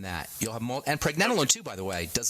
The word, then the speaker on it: pregnanolone: but for other folks pre as in pregnancy pre nen like Ben except nen PR nen and then